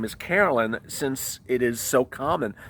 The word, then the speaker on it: Harolyn: It's spelled Harolyn, Harolyn. And I kept on pronouncing it Harolyn, and then yesterday she said, no, it's Carolyn.